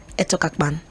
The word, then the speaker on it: Etokakpan: I have a pharmacist and an author, ETOKAKPAN. Hello. Did I get that pronunciation well?